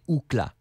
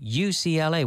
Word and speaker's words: UCLA: to do in Spanish usually we pronounce them as the letters the CIA the FBI he studied at UCLA we're not gonna say okhla we say UCLA which stands for kiss